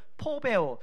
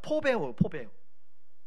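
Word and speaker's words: φοβέω: 이것을 포베오, 제가 일부 예배 때는 제가 이걸 발음을 잘 못했는데요, 수정합니다. 포베오. 우리 교역자들이 일부 예배 끝났더니 목사님 이 단어입니다 이렇게 알려주셨어요. 감사합니다. 포베오.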